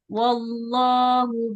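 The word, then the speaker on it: والله: Nah, ini ya dalam pengucapan lafaz Allah jangan seperti ada huruf wunya ya. Wall jangan wallah wallah. langsung wallahu coba. Wallahu itu ustazah. Wallahu wall jangan wau. Tidak wau tapi wal wall. Nah wallah.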